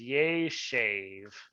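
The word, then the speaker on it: יֵשֵׁב: imperfect of yashav is yay shave i'm gonna i'm gonna just gonna drive jason crazy but i'm gonna pronounce my e's long so you can distinguish between the vowels otherwise it can get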